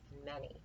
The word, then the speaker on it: many: have any and many which is a trick word because the a sounds like an e instead of an A so we don't say an E and Manny you say any many here is other and